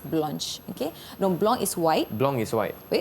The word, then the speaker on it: blanche: Ça se prononce blanche.